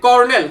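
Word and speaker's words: colonel: দেখেন কর্নেল, কর্নেল বানানের main বানানটা কি?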